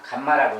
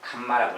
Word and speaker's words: 감마: 자, 여기서 이제 어쨌든 세 근데 예, 알파, 베타, 감마, 감마라고 있습니다. 이렇게 생긴 글자 요렇게 생긴 글자 뭐 갈매이 좀 날아가는 모양인데 감마라고 읽어요.